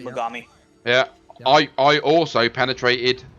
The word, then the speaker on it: Mogami: the if I pronounce it right, the Megami, the Japanese cruiser. Yeah. That's right. Yeah. Mogami.